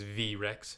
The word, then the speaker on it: V-rex: the colossal v-rex and yes it is v-rex not t-rex let's not act like we're too cool to say it right the v-rex rolls up